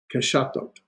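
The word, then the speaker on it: קשתות: In the plural form, just the whole vowel, a tav, and so you get here we go. Ke sha thot. Keshatot.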